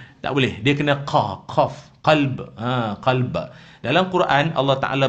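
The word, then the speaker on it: قلب: Tapi satu lagi jangan tertukar. Qaf, lam, ba. Qalb. Itu hati. Orang kita kan selalu kata apa? Engkau sentiasa di kalbuku. Dia jangan K, dia kena Q. Kalau ejaan alfabet lah, dia kena Q. Dia jangan K. K tu kalb. Kalb tu anjing.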